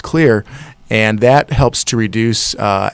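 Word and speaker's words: Xlear: name today it's X le AR and it's pronounced clear and that helps to reduce allergens from sticking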